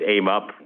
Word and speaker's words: AMUP: Atlantic Avenue Mixed Use Plan, which is referred to as AMUP, so if you're wondering how to pronounce it, we are going with AMUP per the suggestion of the local council member, Crystal Hudson.